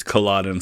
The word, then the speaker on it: Culloden: I don't know if that's how it's pronounced, but that's how you pronounce the battlefield in Scotland. It's Culloden, so I'm going to go with that.